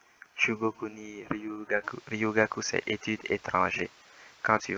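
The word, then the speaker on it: 留学: Ryugaku, c'est études étrangères.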